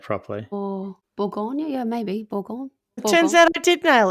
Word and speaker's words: Bourgogne: Bourgogne.